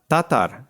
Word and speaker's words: Tátar: week joining us from Hungary is Nick Neta Tatar hi niketa welcome to the show hi Wesco